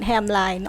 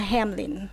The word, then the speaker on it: Hamline: Hamline University, actually not Hamline, although it's spelled like Hamline. So a lot of people call us Hamline, but we are Hamline because it was founded by the bishop of who migrated to St.